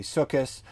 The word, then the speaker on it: Sukkot: Jewish community, you may say the ta with the softer sa sound. So instead of saying Shabbat, you'd say Shabbos. Instead of saying Sukkot, you would say Sukkos. But that's a very small minority pronunciation, and that's different than saying it with that lispy th sound. Anyways, nobody says Shabbath or Sukkot or whatever. Nobody says it that way.